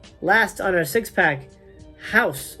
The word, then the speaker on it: Hausu: on our six pack house or hou as it's pronounced this is a directed